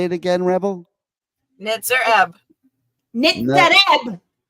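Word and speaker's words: Nitzer Ebb: Nitzer Eb.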